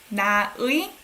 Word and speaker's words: 나의: 나의, you actually say as 에, right?